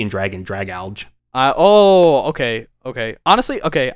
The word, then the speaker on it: Dragalge: Dragalge. Dragalge. I have no idea. We're definitely but someone's going to make fun of us. No, it's it's it's like drag alge cuz like algae and dragon drag alge Oh, okay.